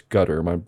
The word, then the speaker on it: Qatar: family of Qatar, which some people pronounce that country Qatar, but I'm pretty sure it's Qatar. My brother spent a lot of time there when he was in the Marine Corps, and that's how he always said it.